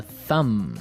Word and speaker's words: thumb: No, I actually only pronounce the M, the Yes.